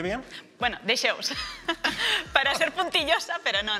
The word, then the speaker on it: Dexeus: ¿Pronuncié bien? Bueno, de Xeus.